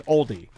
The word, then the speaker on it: Aldi: Uh, not Aldi like the car. It's an oldie.